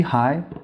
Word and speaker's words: hỏi: Ideally, you should start with a breathy high and a creaky low. For example, hi. But that creaky low is by far the most important part. You'll find that all pronunciations of hi, both the northern hi and the southern hi, all have a low creakiness in them.